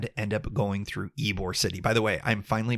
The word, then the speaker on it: Ybor City: a place and anyways it is pronounced Ybor City I apologize to the